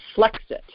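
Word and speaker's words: Flexit: did he call it flex it like like to rhyme with brexit but flex it like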